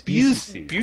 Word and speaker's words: Buscemi: It's Buscemi. Oh, is it Buscemi? Yeah, I can't. You're thinking of Buscemi. I am thinking of Buscemi. I'm thinking of Steve Buscemi.